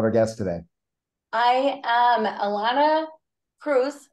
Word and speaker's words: Ilana Preuss: guest today I am Alana Cruz rhymes with Dr Seuss I love that uh